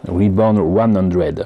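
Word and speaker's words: Re:100: Sinon, je vous parlais, voilà, Reborn 100, voilà, ça se prononce comme ça, avec le Gun EZ.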